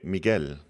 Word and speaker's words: Miguel: The U is silent in Mig Miguel.